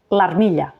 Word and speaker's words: l'armilla: L'apòstrof es menja la vocal i no es reflecteix ni escrita ni pronunciada. Per tant, per dir l'armilla, direm l'armilla. Repeteix amb mi.